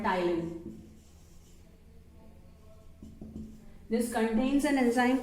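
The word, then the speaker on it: ptyalin: contains an enzyme called Tylin this contains an enzyme called Ty okay t i a l i p t i a l i okay so p is silent over here next is uh that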